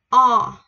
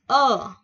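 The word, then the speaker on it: ㅓ: Chữ số 3 là mình có chữ o. O. Có nhiều người sẽ đọc chữ này là chữ ơ.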